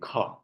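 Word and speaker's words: ख: Now let us pronounce the kha. Kha, kha, kha. So you will find something is coming out. So there is expansion.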